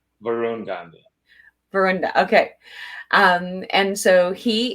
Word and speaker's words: Varun Gandhi: I should have actually asked you the pronunciation. So Dr. Varun Gandhi, did I say that correctly? Varun Gandhi.